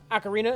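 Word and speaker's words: ocarina: than a a mhm am I saying it right the time finally you said it right you said it right last time accidentally acarina is right okay I I knew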